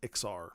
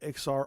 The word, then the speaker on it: Ixar: later be named as XR at least that's the pronunciation I'm going with it's spelled IX AR so I'm going with a pronunciation similar to the film company Pixar p IX AR if